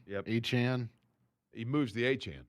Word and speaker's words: Achane: Can you name a Miami Dolphin outside of Devon Achane?